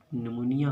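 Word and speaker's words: pneumonia: है नवंबर में shed नमोनिया हो जाता है निमोनिया या पीस साइलेंट है निमोनिया कुंठा से ग्रसित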